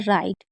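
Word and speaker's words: right: लेकिन याद रखिएगा आई जी एच टी को आईड पढ़ते हैं। यानी कि जी एस साइलेंट रहता है और टी को ट पढ़ेंगे और आई को आई यानी कि राइट यानी कि ठीक।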